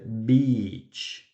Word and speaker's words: beach: Pero observen, en esa palabra, por ejemplo, es muy importante alargar la I. Para playa, beach. Let's go to the beach, ¿cierto? La alargamos.